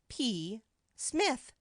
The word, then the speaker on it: Psmith: name is p Smith P Smith the p is silent P Smith PE Smith